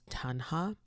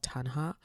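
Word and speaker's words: taṇhā: The first is called Tanha. I think that's how you say it. It's called Tanha, which is the typical way that we think of desire as suffering.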